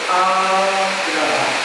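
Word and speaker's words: āgraha: Agraha, there's a diacritic dash over the first A, and it's pronounced in a lengthy way, agraha, which means eagerness to accept.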